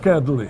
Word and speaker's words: nokedli: Nokedli.